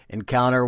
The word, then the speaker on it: Nkounter: And Encounter is spelled Nkounter, and they consist of lead singer David Pollard, drummer Chad Shipley, and Imran Ahmed from Pakistan with lead guitar. Encounter will be followed by